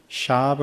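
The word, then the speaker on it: שווא: 단어를 꼭 기억하시면 좋겠습니다 망령 이란 단어가 시브 리어 로 샤브 라고 발음 됩니다 그 뜻을 살펴보면 무의미하게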